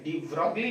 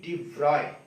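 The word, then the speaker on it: de Broglie: तो देखो यहां पे लुइस विक्टर डी ब्रॉगली, असल में इसका प्रोनाउंसिएशन डी ब्रॉगली नहीं, डी व्रॉय।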